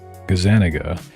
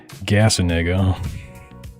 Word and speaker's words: Gazzaniga: See, that sounds like the proper way to say Gazaniga instead of Gasaniga.